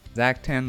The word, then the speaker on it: Zaktan: So wait, did we have Zactan right? Zaktan was right.